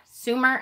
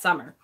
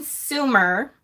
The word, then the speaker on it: Sumer: Sumer? I never know how to pronounce that. I know it's not summer.